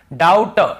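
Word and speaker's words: doubt: को नहीं पढ़ना है टी के पहले देखिए डाउट डाउट डाउट नहीं पढ़ेंगे डाउट ये मैंने आपको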